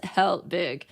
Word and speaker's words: Helbig: Helbig, and she's like, yeah, pronounced exactly as such, Mrs. Helbig, for my first art class in high school during the year 2000.